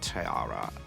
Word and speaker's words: Tiara: But I felt like the best one was Plastic Tiara.